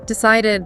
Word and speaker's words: decided: Decided.